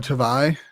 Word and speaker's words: Tavai: And on defense, you got Jalen Hutchins and Jonah Tavai.